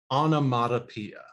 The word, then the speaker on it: onomatopoeia: Before we go on, let's make sure we can all pronounce it correctly. Repeat after me. Pia, matopia, onomatopoeia.